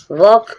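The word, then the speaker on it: walk: वॉक वॉक means चलना। आप देख रहे हैं एल के बाद जब के आए तो उस एल को आप साइलेंट रखें। उसका साउंड ना बोलें।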